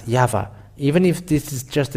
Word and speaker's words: Yahvah: to you to think when the Hebrew when it is read in Hebrew the Y he he is pronounced as yava even if this is